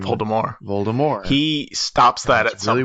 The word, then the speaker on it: Voldemort: pronounced voldemort's name polymor voldemort he stops that at some point i think in like six or seven he switches to voldemort i mean i don't unders yeah like because it's a french name and he never spends